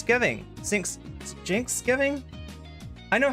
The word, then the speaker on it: Cenk: uh We've also got sinks giving sinks Jinx giving I know how to pronounce his name I know that his name's not sink it's Jin Jin Huger Jen Huger and